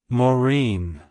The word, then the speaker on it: Maureen: and an interesting atmology it's pronounced as Morin morine morine to pronounce it correctly emphasize the Bine at the